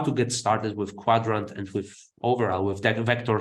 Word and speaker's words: Qdrant: uh and your website URL is uh the quadrant website yeah yeah you can find some articles on squadron's website it's it's spelled differently right it's not quadrant it's q